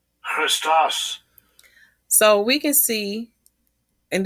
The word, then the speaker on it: Christos: And compare it to how the word Christ is originally pronounced. Strong's G 5547, Christos. Christos.